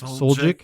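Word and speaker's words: Suljic: Soljic?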